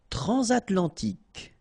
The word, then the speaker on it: transatlantique: Transatlantique. Okay, so at the end, tic. Remember, Q-U-E, K.